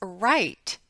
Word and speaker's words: write: In the WR consonant team, the W is silent, as in the words write and wrap.